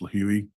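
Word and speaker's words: Lihue: And those purchases were made on March 13th, and they were round trip from Phoenix to LIH, which is, I believe it's pronounced Lahui, Hawaii, on the island of Kauai.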